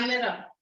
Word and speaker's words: chimera: yeah, it's spelled as C. Chimera. Kai? Yeah, Chimera.